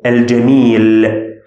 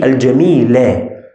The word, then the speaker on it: الجميل: I pronounced this letter with sukun. I said al-jamil. But it's supposed to be fatha, supposed to be al-jamila.